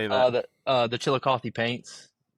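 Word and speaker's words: Chillicothe: And how do you pronounce that team? How do you say that? Uh, the uh the Chilikothy Paints. Chilikothy.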